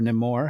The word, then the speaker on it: Namor: of elements would would have still remained uh Namor or no more however you want to pronounce it um I kind of think that